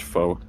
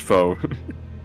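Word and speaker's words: faux: That's pronounced foe. F A U X is pronounced foe. I don't know why, but it is.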